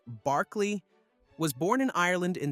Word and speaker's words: Berkeley: George Berkeley Berkeley pronounced Barkley was born in Ireland in 1685 and lived until 1753.